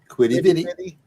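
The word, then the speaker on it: Quidi Vidi: Oh, you pronounced it right. Good job. Quiddy Viddy.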